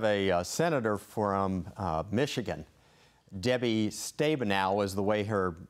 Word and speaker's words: Stabenow: Debbie Stabenow is the way her name is pronounced, but when you look at her amendment,